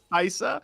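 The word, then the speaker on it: Kai'Sa: and this is her first game on Hold Kesa. on, excuse me. What? What's that champion again? What's that called? ally has been slain. I don't care about your pronunciations, okay? It's Kaisa.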